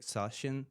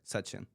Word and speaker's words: Sachin: It's uh the first one was like Sashin, but it's pretty close, but it actually says like Sachin, right?